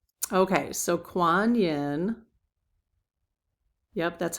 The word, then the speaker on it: Kuan Yin: Okay, so Kuan Yin Yep, that's how you pronounce it.